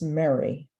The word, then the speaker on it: merry: oh I have to say I'm from Philadelphia I pronounce the word m-e-r-r-y as Mary can't help that 1963.